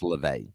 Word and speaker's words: LaVey: And that's just, when you have the head of the Satanic Church, Anton LaVey, the announcer pronounced it wrong. He said Levy, it's LaVey.